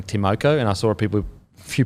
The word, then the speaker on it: Timoko: So, I think how you pronounce it is Timoko. Yeah. Not Moko. Timoko. Okay. Again, correct us in the fucking comment section. Could be wrong, but I think it's Timoko.